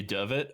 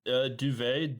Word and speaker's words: Duvet: It could easily be Dovet. I just That's how I would think Duvet would be pronounced. Uh, no, actually Duvet.